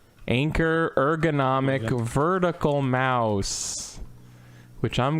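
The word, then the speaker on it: Anker: got an anchor which apparently it's anchor that's pronounced anchor anchor ergonomic vertical mouse which i'm gonna put on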